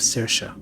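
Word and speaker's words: Saoirse: it is an energy that reminds me of cersa and that's how you pronounce that name by the way I pull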